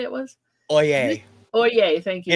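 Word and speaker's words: Øye: Oye, thank you. If it's pronounced like they use it in the legal profession, it's Oye.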